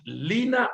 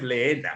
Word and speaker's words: Lina: Entonces, Lina no es Leena, sino Lina, se pronunciaría así, ¿no?